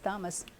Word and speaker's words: Thomas: to make it English siiz but they still pronounce it like Latin so it's Thomas uh I did not know that I I